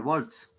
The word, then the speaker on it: volt: No se dice voltio, se dice volt.